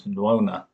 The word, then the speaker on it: Nuona: But in China they knew him as in fact they pronounced his name as noona. So it's usually transliterated as nuo na.